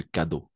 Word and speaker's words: cadeaux: réel d'accord des cadeaux Cadeaux toujours haut on va prononcer o a la combinaison des voyelles à eau et eau x on va toujours prononcer o d'accord en cadeau des